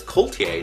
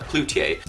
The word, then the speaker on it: Cloutier: I was reading as Coultier, not Cloutier.